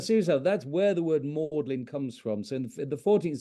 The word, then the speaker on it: Magdalen: that's where the word mlin comes from so the 14th century that word Magdalene was pronounced mlin which is where the